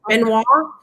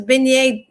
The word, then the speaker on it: beignet: i want to see this benoit lip and wand am i saying that right the donut beignet beignet i knew i've said it wrong and it was beignet package i got i don't